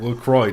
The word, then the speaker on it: LaCroix: water it's not uh lacroix or how the you pronounce that uh they actually insist you call it lacroix despite being wrong about their own name they're like they're like